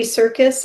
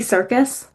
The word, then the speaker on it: Serkis: Andy Serkis? Andy Serkis. But not circus like. But not spelled like circus.